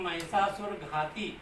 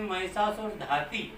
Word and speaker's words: महिषासुर घाती: कई बार जो है उसमें आरती में आता है कि जो है दुर्गा जी की आरती महिषासुर घाती, और कई लोग जो है उसको उच्चारण करते हैं महिषासुर धाती, ठीक है ना।